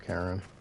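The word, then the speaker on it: Charon: When I first seen the name Karen, it was CH, so I thought, you know, Sharon or Sharon. The gentleman of the town guard. CH to me is like an S, but the fact that they do CH as K for Karen, like, all right, well.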